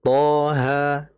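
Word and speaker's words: طه: Nah, makanya kayak toha, mengapa dia dibaca 2 harakat? Karena sesuai ejaannya cuma 2 huruf. To, alif, ha, alif. Jadi toha.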